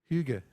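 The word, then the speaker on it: hygge: Finland they have a word I can never pronounce it properly but it's h y g g Huga thank you something like that it doesn't mean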